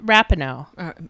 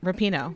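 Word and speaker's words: Rapinoe: I didn't really I because I know I mispronounced it oh Rapido rapino yep I want to be like Megan rapino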